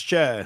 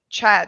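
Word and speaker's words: Schär: They weren't pronouncing it Chair. They were pronouncing it like, I don't know, Scherer or whatever. And I remember thinking, that's very weird. I just assumed it was Chair.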